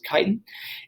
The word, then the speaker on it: chitin: It looks like it's pronounced chitin, but it's chitin.